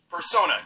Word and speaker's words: persona: And that's how she became a person user. Persona user. Persona. That's what I said. That's how you pronounce it, This music.